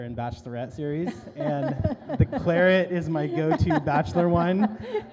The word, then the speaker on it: Claret: It's not the French pronouncing Claret. My guess is that the British had a hard time selling Bordeaux blend, and so they just renamed it Claret to appeal to an English consumer.